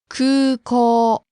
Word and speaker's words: 空港: There are 2 long vowels in that word, so be careful. Long U and long O sound. In hiragana, it's spelled ku-u, ko-u, but it's pronounced. 空港.